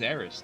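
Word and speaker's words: Aeris: it Aris and erth when I played the game it was spelled with an S she is AIS to me quite frankly I might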